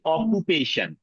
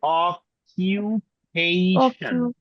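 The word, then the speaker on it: occupation: আবার বলি, আমরা বাঙালিরা বলি অকুপেশন, এভাবে করে বলি, রাইট? এটা হবে অকিউপেশন।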